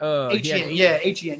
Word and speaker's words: Etienne: Etienne.